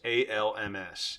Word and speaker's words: Alms: Alms, ALMS.